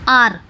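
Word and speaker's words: hour: वोह साइलेंट होता है फॉर एग्जांपल आवर आर इसको हम कैसे पढ़ेंगे आर यह पढ़ेंगे आर और आ क्या है एक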